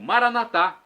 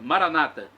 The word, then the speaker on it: Maranata: e agora eu clamo Maranata do dialeto de Jesus o aramaico nós católicos colocamos a tônica na última sílaba nossos irmãos separados evangélicos ou protestantes colocam a tônica na penúltima sílaba Maranata não importa significado é